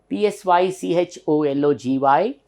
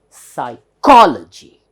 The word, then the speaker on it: psychology: graphic photo graphic photo graphic right next one p s y c h o l o g y how to pronounce this sir I this becomes PSI there's